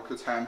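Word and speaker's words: C'tan: mhm and in the middle the Sean or kutan have its pronounced Shard of the nightbringer okay so no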